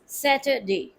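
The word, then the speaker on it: Saturday: be converted to ईया ड टू शवा sound to make it more flute सेटरडे सट like had मैड पट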